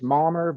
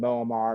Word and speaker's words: Muamer: the beginning of this how to correctly pronounce my name again it's malmer but I've been called momar mumar Everything none of that